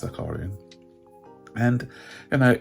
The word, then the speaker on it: Zakharyan: by the name of zacalian i think it's known to pronounce zakarian and you know it's